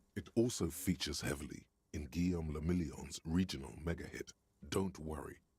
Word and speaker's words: Guillaume le Million: Guillaume le Million. Guillaume le If Million. it doesn't rhyme, you're not pronouncing it right.